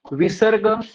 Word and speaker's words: विसर्ग: ध्वनी है ह और विसर्ग का उच्चारण स्थान काकल्य होणे के कारण विसर्ग का ध्वनी ह जैसी हो गई है संयुक्त अक्षर संयुक्त अक्षर